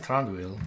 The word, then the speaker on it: Thranduil: Someone saying Thranduil, like, I mean, il rather than eel, but, and a little bit less space in between the syllables than I've been giving it, I guess.